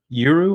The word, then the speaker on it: Urth: game based in a world called euro I think's how you pronounce it you are you earth right it's actually pronounced earth isn't it just like yeah something